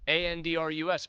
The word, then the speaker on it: Andrus: No, Andress. It's pronounced the same way. 2 different last names, though. They're not related. One is a guy named Elvis, Andrus.